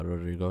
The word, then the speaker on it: Rodrigo: where career is going and that is olivia rodrigo did i pronounce that right i yeah rodrigo yeah yeah awesome so uh and with her